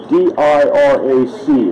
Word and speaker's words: Dirac: I don't know how to pronounce all these Polish names. It's D-I-R-A-C is how you spell the guy's name.